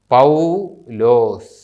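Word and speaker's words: ܦܘܠܘܣ: ലോമാത് ഓ വാവ് സകാസ് ഇവിടെ ശ്രദ്ധിക്കേണ്ടത് ആ എന്ന അക്ഷരത്തിനു ശേഷം വാവ് വന്നാൽ ഔ ഓ എന്ന അക്ഷരത്തിനു ശേഷം വാവ് വന്നാൽ വാവ് ഉച്ചരിക്കുന്നില്ല ഇത് വായിക്കുന്നത് പൗലോസ് പൗലോസ് എന്ന് പറയുകയില്ല പൗലോസ് അടുത്തതും ഒരു പ്രോപ്പർ നൗൺ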